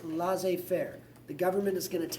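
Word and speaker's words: laissez-faire: to help you in French that is actually pronounced La Fair the government is going to take their hands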